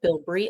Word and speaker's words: Bilbrey: And welcome to the Bilbury and Clark show.